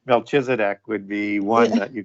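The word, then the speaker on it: Melchizedek: know it's not but it's a compound word so it should be like milky zedak right it's not how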